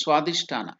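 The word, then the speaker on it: Svadhishthana: slide that is SW it's not visha it is swadish yeah swadish chakra this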